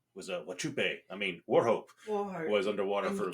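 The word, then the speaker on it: Wauchope: I mean Warho. Warho was underwater for a bit. You kept pronouncing it Wupe.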